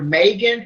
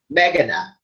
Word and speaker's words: Meghana: the Arthur chat show today's guest is author megan is that pronounced ralphing did I pronounce that right it's me cannot meghana oh I yeah yeah okay and how do